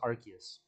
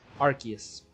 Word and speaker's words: Arceus: It's pronounced Arceus. Watch the movie. That's how they say it in the anime, in the movie. Arceus.